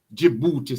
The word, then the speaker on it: Djibouti: near over to the Djibouti side. Yes. You see Djibouti over there. Yes. And Djibouti is spelled with a D.